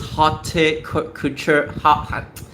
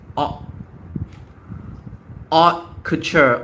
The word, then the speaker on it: haute couture: Each is haute couture, haute couture. Oh my god, haute couture, haute couture, haute couture. It sounds so. It's like hour, right?